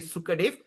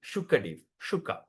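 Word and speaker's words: Śukadeva: S with apostrophe means we're going to pronounce like shampoo.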